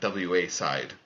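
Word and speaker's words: WAside: So it's WA side. I would pronounce that Wa side. Wa side. There you go.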